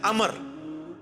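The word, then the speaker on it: عمرو: वो लफ्ज़ गलत है लब्ज उम्र तो कोई लफ्ज़ नहीं है लब्ज है अमर लिखा होता है उम्र लेकिन उसका मतलब वह जो है वो साइलेंट होता है और वो का मतलब यह है की आपने इसे पेस की बजे उम्र की विजय पढ़ना है अमर तो हजरत अल्लाह इसका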